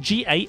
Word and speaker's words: Gallimimus: But Gallimimus is spelled G-A-L-L-I-M-I-M-U-S, Gallimimus.